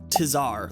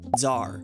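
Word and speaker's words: TzHaar: The first fun fact is that it's not actually Tazar, like Tella's been saying. It's actually pronounced Zar, as you can clearly see on the wiki.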